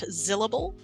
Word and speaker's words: Zillable: I run the YouTube channel Zilla's Athenaeum, and you can find me most everywhere at Zillable, spelled like syllable but with a Z.